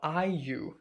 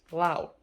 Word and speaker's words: Lau: Because the same word is pronounced different in Mandarin. In Mandarin it's Liu, Liu, but right here is Lao, Lao.